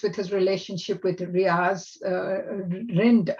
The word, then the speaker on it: Rind: The second half of Scranton memoir deals with his relationship with Riaz Rind. I think it's pronounced Rind, it's R-I-N-D, a wealthy Muslim American investor and financer.